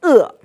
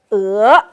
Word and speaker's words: 俄: The old pronunciation is 恶. Okay? But new pronunciation, somehow people make it, they change the tone. So it's 俄. So originally we say 俄国. And right now it's 俄国.